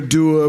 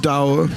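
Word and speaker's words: dour: Do you have doubts or I know that to some people uh my demeanor can often be very der which is the way it's pronounced not da is that true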